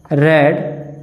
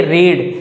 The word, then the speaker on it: read: यू आर्ट to have रेड the book. यहाँ पे देखिए ये जो रेड लिखा गया है READ, इसको हम प्रोनाउंस इस तरह से नहीं करेंगे रीड, इसको प्रोनाउंस करने का तरीका है रेड।